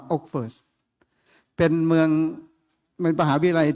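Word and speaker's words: Oxford: เมือง อ ออกฟเฟิร์ด ครับ ไม่ ใช่ ออกฟอร์ด นะ ครับ ออก เสียง เป็น ออก เป็น อ่า โอกเฟิร์ด เป็น เมือง เป็น มหาวิทยาลัย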